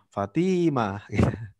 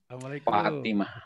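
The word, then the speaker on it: فاطمة: Kadang-kadang orang kita itu yang panjang to-nya. Fatimah. Fatimah. Termasuk juga Aisyah. Yang panjang itu ain-nya, bukan Ismi Fatimah. Bukan Aisyah. Fatimah. Jadi yang panjang fa-nya ya.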